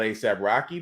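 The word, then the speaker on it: A$AP Rocky: I'm not too keen about ASAP Rocky, but hey, that's how you say his name is.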